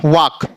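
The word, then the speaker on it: walk: जाएगा कॉफ ऐसे यहां के के से पहले एल है डब्लू ए एल के तो के से पहले एल है तो एल साइलेंट हो जाएगा तो क्या हो जाएगा वक ऐसे यहां फर्म ऐसे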